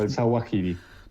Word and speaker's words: Zawahiri: lo pronunciaste perfecto, el Zawahiri.